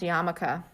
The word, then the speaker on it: yarmulke: It's pronounced yarmulke. Oh my god, I'm so sorry. Okay. I know what that word is, but I've never seen it spelled. Neither have I. A yarmulke.